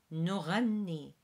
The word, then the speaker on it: نغني: And again, I'm going to focus on the GH here, which is a R, which is pronounced a little bit like how the French pronounce their R in Paris. So نغني.